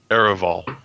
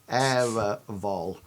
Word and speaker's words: Ereval: Ereval. Ereval. Era. Era. Hang on, I'm going to write it phonetically. Ereval. Got it. So like aerosol.